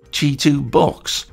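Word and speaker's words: CHITUBOX: them since then and apparently it is Chu box which means fast horse toolbx or thereabouts in traditional Chinese so I got that one wrong anyway in preparation I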